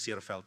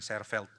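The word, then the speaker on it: Seerveld: Saya baru tahu bacanya Searfeld. Saya dikoreksi sama orang yang ngerti, "Oh, ternyata bukan Sefeld. Saya terlalu Indonesia bacanya. Indonesia pusaka, Indonesia tercinta."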